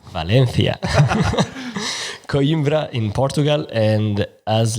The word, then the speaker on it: Valencia: Do the Spanish pronunciation. Valencia.